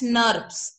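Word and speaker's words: snRNP: They are pronounced as SNURPs, SNURPs, SNURPs.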